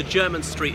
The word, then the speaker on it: Jermyn Street: Hudson behind me so German Street is spelt je are my n but pronounced German as in somebody from Germany so I'll show you